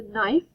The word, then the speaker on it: knife: wrinkled this is a knife now remember knife has a a silent k so let's look for